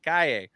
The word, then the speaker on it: Calle: Or I gotta say it right, Calle.